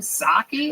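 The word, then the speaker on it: Psaki: Saki. Who? What's that? The Jen Saki. Is that how you say it? You don't say the P at all.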